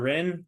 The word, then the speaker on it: Ren: for you no PhD so you pronounce it just like it's r n rather than that that H is silent there's there's nothing going on there um best way to